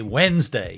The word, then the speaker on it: Wednesday: the 24th of July when des day one of those weird words when Nez day but you say Wednesday you don't ever pronounce the D very confusing very confusing